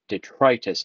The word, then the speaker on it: Detritus: This is the deluxe class Detritus. Det, no, detritus. Detritus. I put an extra U and it's detritus. For 20 years, I was pronouncing that wrong.